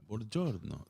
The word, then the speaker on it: Buongiorno: Buongiorno.